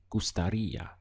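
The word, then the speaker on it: gustaría: end of it and it's very important that you stress this part here over the eye where you can see the accent so the sound is gustaria how you express i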